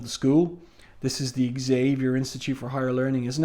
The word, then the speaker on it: Xavier: Um, and Logan says here interestingly, that's Xavier with a long A, not a short. So, was she saying, was she pronouncing um, Zavier?